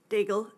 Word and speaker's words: Dagel: Do I pronounce it correctly? Dagel. Dagel is correct.